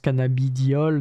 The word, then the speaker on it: cannabidiol: Enfin, ça se prononce cannabidiol, donc t'es en mode, bon, bah, c'est du cannabis, alors que non, quoi.